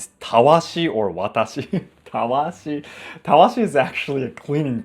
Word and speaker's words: watashi: Because watashi is not watashi, right? If you look at this in English, it looks as watashi, but that's not the right pronunciation.